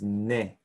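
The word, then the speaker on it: 네: or becomes nara and your is ne but when you speak it's usually sort of pronounced knee and negat is yours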